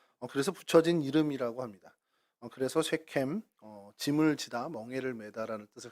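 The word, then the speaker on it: שכם: 세겜이라는 이제 발음은 이제 정확히 쉐켐 해가지고 목덜미, 어깨 이런 뜻이 있고요.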